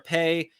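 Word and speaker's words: Pays: things if you're a pay p pa y s but the S is silent um that's basically a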